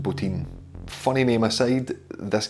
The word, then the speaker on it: Bottin: guy called Rob Bottin looks like botton pronounced butene funny meme I saved